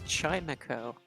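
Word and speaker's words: Chimecho: burn it burn it it's chimeko like akko because it's a chime ah i never knew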